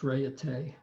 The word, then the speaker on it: Raiatea: So this is Raiatea. It's actually pronounced Raiatea.